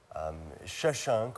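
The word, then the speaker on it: Shoshenq: Shashank, or the variant Shashank, both pronunciations are used, is the Egyptian term, pronunciation of his name.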